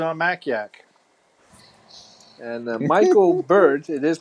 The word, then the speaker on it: Bird: article Jay Wilson on Mac yak and Michael bird it is pronounced bird by the way why didn't Apple